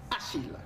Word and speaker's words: Achille: Ce matin, nous célébrons les Achilles. Les Achilles. On Achille. Les... Ouais, les liaisons. Il faut savoir faire les liens.